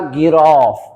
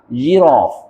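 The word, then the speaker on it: giraffe: زي الكلمه دي ها تعرف تنطقها لي اوعى تقولها جراف جراف لا طبعا هنا الجي عشان بعدها الاي تبقى جيراف جيراف تمام الكلمه زي دي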